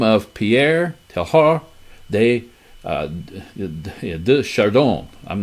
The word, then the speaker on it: Teilhard: the name of Pierre Teilhard de Chardon. I'm not too good with French. I didn't take Pierre. Pierre's French. Pierre Teilhard de Chardon. Teilhard, as the D is silent, I remember. Teilhard, okay.